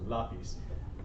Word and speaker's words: lápiz: list, but el lápiz, this also is kind of like a pronunciation anomaly, so they put the accent there because it should be lápiz, since it's a consonant other than N or S, but they put the accent there, so lápiz.